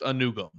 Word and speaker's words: Anugwom: Anugwom. Anugum. Apparently just Anugum. Arkel Anugum. We're going to ignore the W.